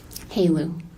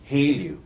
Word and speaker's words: HALEU: Haleu. Haleu.